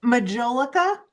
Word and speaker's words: majolica: Dapper amphibian and he's fairly large so put Majolica frog gosh you're gonna ask me to spell that m a j o l i c